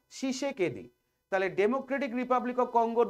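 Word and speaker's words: Tshisekedi: হবে নাম হচ্ছে ফেলিক্স শিষে কেদি এই তিটা সাইলেন্ট থাকবে উচ্চারণের সময় শিষে কেদি তাহলে ডেমোক্রেটিক রিপাবলিক অফ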